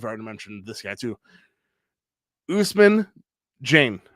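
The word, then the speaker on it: Ousmane Dieng: Usman Jane, right? Is that how you pronounce it? I struggle with that name. Yeah, Usman Jang. Yep.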